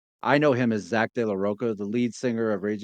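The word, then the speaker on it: de la Rocha: they I actually heard somebody pronounce it Zack deoa I know him as Zack de laoka the lead singer of Rage Against the Machine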